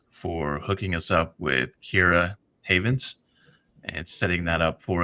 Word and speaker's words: Keira Havens: of Lights Out for hooking us up with Kira Havens and setting that up for us. Did I Did I just completely butcher the pronunciation of your name?